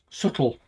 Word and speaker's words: subtle: Subtle with a silent B.